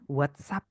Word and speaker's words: WhatsApp: whatsa nah ingat ya walaupun di sini S WhatsApp kayak gitu tapi pengucapannya Z ya teman-teman Ya whatspp coba kita